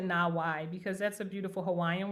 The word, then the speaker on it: NAWAI: So for our our our launch for Nawe Nai, we're pronouncing it Nawawaii because that's a beautiful Hawaiian word that means connecting rivers.